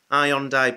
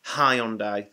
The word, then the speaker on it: Hyundai: So I've got some Hyundai batteries, also from Poundstretcher.